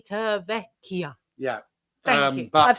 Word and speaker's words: Civitavecchia: Civitavecchia. That's how you say it. Civitavecchia.